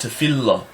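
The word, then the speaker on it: תפילה: word tefillah, which actually the lamed there, which it only has one sound, is dotted and it makes a double sound. So it's actually pronounced tefillah.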